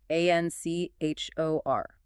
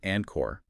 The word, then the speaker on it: anchor: the source materials, flag, the spelling and the pronunciation. A n c h o r, right? The chi sound. It's not pronounced anor.